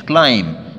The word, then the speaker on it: climb: هنا نلاحظ إن الـ be حرف صامت مش climb، الفعل نطقه صحيح climb، climb a tree يتسلق